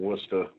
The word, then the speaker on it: Worcester: Well, the proper pronunciation is Worcester, Massachusetts, how we say it out here. I know that's what it looks like when you read it.